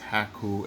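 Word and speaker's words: Hakko: if I could pronounce it correctly cuz it's pronounced haku FX 951 and this is one of the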